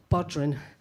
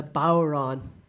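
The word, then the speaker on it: bodhrán: a cardinal sin because it's a Gaelic word and so the D is not is not pronounced so it's the D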